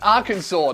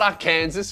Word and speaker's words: Arkansas: some of the comments it's pronounced Arkansas not AR Kanas you